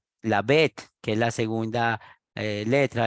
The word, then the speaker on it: Bet: La segunda sección con la B, con la Bet, se pronuncia Bet, y así sucesivamente, y hasta que termina todas las 27 letras del alfabeto hebreo.